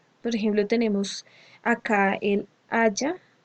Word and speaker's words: haya: Aiga no existe, eso no existe y se ve además horrible escrito. Lo que existe es haya, pero digamos que por cuestiones de pronunciación y todo eso se hizo muy famoso este tal aiga.